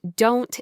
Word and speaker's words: don't: Now, for our slow motion analysis, the word don't is interesting. In American English, when a T comes after an N, we often don't pronounce the T very strongly, it's not a hard